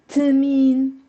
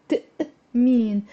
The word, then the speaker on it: تأمين: So it's not تمين. It's there's a تأمين.